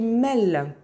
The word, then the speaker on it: Melles: Et elle nous a appris que d'où provenait le nom de cette compagnie et la prononciation qui est Mel. Hein, et pas du tout mademoiselle ou mesdemoiselles, pas du tout.